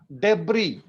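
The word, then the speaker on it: debris: and connect one इज डबरी डबरी ES silent है डिलीवरी डिलीवरी का मतलब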